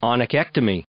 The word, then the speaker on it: onychectomy: The solution at the time was what the veterinary industry calls oniectomy. Spelled right here because I always have problems pronouncing it. Onychectomy.